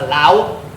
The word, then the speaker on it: Laos: Sa Laos. It's spelled Laos, but it's pronounced Lao. Is it Lao? Right? It's Laos. I think it's Lao. Walay S sa sound.